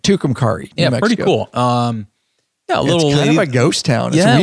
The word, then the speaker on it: Tucumcari: too it's called tukumari Tucumcari she told me how to say it on the documentary but I asked her but I can't took him Kari yeah pretty cool um